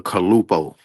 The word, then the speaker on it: Calupoh: How do you pronounce it? Ready? It's the Kalupo.